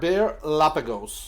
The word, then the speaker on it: Bearlapagos: Bear, just like the animal, bear, right? B-E-A-R, yeah. Right, and then Lapagos.